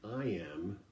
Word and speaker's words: iamb: does that mean well an i am that's spelled i-a-m-b is a two-syllable beat